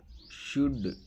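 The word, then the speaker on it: should: ಅದಕ್ಕೆ ಬ್ರಾಕೆಟ್ ಅಲ್ಲಿ ಕನ್ನಡದಲ್ಲಿ ಕೂಡ ಹಾಕಿದೀನಿ ಯಾವ ರೀತಿ ಉಚ್ಚಾರಣೆ ಮಾಡಬೇಕು ಅಂತ ಹೇಳಿ ನಡೆದಾಡು ವಾಕ್ ವಾಕ್ ಜನಸಮೂಹ ಫೋಕ್ ಫೋಕ್ ಮಾತು ಟಾಕ್ ಟಾಕ್ ಇರಬೇಕು ಶುಡ್ ಶುಡ್ ಆಗುತ್ತದೆ ವುಡ್ ವುಡ್ ಆಗಬಹುದು ಕುಡ್ ಕುಡ್ ನೆಕ್ಸ್ಟ್ ಚಿಂತೆ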